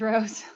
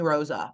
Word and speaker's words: Rose: my name wrong now everybody calls me Rosa I'm like no that's the street I live on that's not my name wow so yeah that's